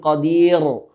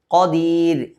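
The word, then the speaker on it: قدير: ഖദീർ, പല ആളുകളും ഖദീർ എന്ന് പറയാറുണ്ട്. എന്ന ഉച്ചാരണം ശരിയല്ല. ഇവിടെ തർക്കീക്കാണ് റാ. അതുകൊണ്ട് തന്നെ ഖദീർ, മലയാളത്തിലെ ര എന്ന ഉച്ചാരണം ഉണ്ടല്ലോ, അത് വരണം. ഖദീർ.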